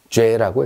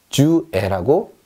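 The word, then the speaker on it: j'ai: 자, 주와 애가 합쳐졌습니다. 합쳐서 뭐라고 읽냐면 죄라고 읽습니다. 죄. 프랑스어는요, 연음의 언어입니다. 앞뒤로 합칠 수 있으면 가차 없이, 여지 없이 합쳐버립니다. 아무도 이거를요, 주 애라고 얘기하지 않습니다. 그냥 죄.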